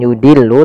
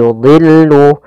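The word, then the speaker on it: يُضِلُّ: Pada lafal yudhillu, dha di sini huruf isti'la termasuk huruf tafkhim, maka dia tetap ditebalkan, bukan yudillu tapi yudillu. Kemudian lamnya tipis.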